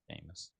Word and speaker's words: Seamus: Seamus.